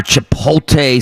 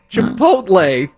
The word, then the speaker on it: chipotle: know the oscar mayer chipotle smoked chicken breasts yeah that's where the l is you're missing you thought that was a silent l in there how do you say